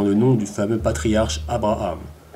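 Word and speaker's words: אברהם: nom du fameux patriarche abraham prononcé avraham en langue hébraïque l'histoire d'avoir à mme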